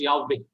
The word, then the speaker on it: Yahweh: the correct pronunciation is Yahweh. Yahweh is the correct pronunciation. Why? Because the first syllable of the word which we get in Psalm 150, praise Yah or hallelujah.